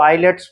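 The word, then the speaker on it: islets: आई एस एल इटी एस इसको आई लेट्स पढ़ेंगे। आई लेट्स एस साइलेंट रहेगा।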